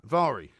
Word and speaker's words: Mhairi: Vari. Well, it's spelled Mhairi. Yeah, that's right. And it's Vari. It's pronounced Vari.